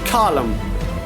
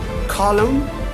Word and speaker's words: column: So N letter will be silent. So they see the example: column, dam, solemn, autumn. Autumn, column, dam, solemn, and autumn. That means in these all words, N letter is silent.